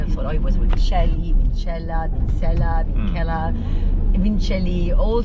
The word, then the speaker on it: Vincelj: And it was life easier, even trying to explain always, no, it's Vincelj, the J is silent and the C is not, and it's not Italian, it's Croatian. So yeah, that's how it started actually.